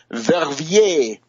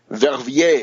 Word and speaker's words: Verviers: Netherlands, and Belgium, in particular the town of Verviers, Verviers. Verviers.